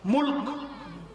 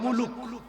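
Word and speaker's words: ملك: মুলক মনে থাকবে না? আর যদি আপনারা ওইভাবে বলেন বাংলা ভাষায় মুলুক বলেন, রাগ করতেছেন? মুলুক মুলুক। আর সঠিক উচ্চারণ করতে হলে কিভাবে? মুলক।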